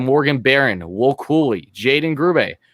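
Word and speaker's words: Grubbe: see we have morgan barron will cooley jaden grube grooby how he pronounced his name carl henriksen patrick coderenko you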